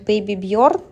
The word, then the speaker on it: Baby Bird: Вещь Вот это вот Baby Bird мне писали что так правильно читается это бренд Ну Классная